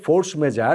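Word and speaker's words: force majeure: ইংরেজিতে ফোর্স মেজার। কিন্তু আসলে এটা ফ্রেঞ্চ শব্দ তো ফ্রেঞ্চ উচ্চারণ করাটা বড্ড কঠিন। আমি দেখলাম সবচেয়ে কাছাকাছি বোধহয় ফোখ মেজা এই টাইপের কিছু একটা উচ্চারণ হবে।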